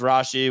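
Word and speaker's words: Rashee: Rashi rice over five and a half receptions pronounced Rashi we just went on Google and confirm that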